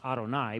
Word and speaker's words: Adonai: Hebrew word the Hebrew word that's pronounced Adonai but means Lord and so that's